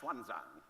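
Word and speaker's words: Xuanzang: everything is this man Schwan Zang the older among you would have learned about him in school asang in the old spelling he's now meant to be pronounced shanang and Schwan Zang came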